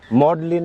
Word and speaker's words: maudlin: ভাই বলেন বোকাবলি একটা প্রশ্ন মডলিন মডলিন আমি উচ্চারণটা বলে দিচ্ছি এম এ ইউ ডি এল আই এন মডলিন মানে কি মডলিন মানে মডলিন মানে কি নেশা